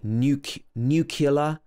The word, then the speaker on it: nuclear: In the British English pronunciation, this should be n-y-u, new at the beginning. New and then clear, like a clear day. But a lot of people will say nuclear, nuclear, and other pronunciations.